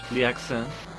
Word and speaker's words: l'accent: Wait, no, you don't say the last letter in French. L'accent.